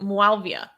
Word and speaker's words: Muawiyah: And basically, they compare the current regime and the supporters and the enforcers of this regime to how do you pronounce it? Muawiyah.